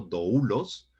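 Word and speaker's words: δοῦλος: importantes de Nuevo Testamento doulos con acento en la u y describe a un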